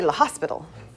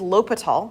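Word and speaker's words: L'Hôpital: LOL it's a mathematician people like to say la Hospital there's no s in the middle right it's not hospital um it is Lal that's how we say his name so lal's rule all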